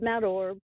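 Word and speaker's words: Mount Orab: Yeah, you did a pretty good job, Mount Orb.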